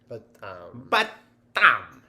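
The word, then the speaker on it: በጣም: Batam.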